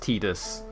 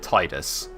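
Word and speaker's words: Tidus: in advance I know that his name is pronounced tetus officially I know that canonically it's pronounced tetus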